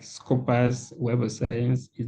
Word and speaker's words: Scopus: There is Scopus, or if you can call it Scopus or Scopus, it depends on your pronunciation, is SCOPUS.